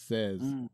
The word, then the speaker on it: says: guess cuz it like when you look at the word it looks like say but we always pronounce it says so yeah you could